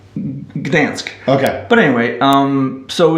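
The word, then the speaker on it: Gdańsk: thanks good thanks today but in English is pronounced Gdansk okay but anyway um so it's the town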